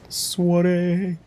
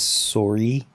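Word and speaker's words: soirée: Suare. I'm glad I actually remembered that's pronounced suare as well because I feel like last time I played this game, I probably was reading it as sorry.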